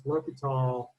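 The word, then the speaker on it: L'Hôpital: His name is Lhopital. That's how you pronounce that.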